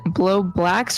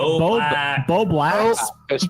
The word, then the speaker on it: Bo Blacks: Is blowbacks, y'all, how do you say, is it blowblacks or blowbacks? It's Bo Blacks.